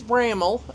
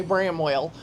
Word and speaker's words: Bramwell: And it is Braml. You'll look when you look at the spelling of it, it looks like Bramwell. Uh, but as the lady said earlier and I was shaking my head yes because I get what she was saying is like well no you're not from here if you say Bramwell because they say Braml just like Appalachin is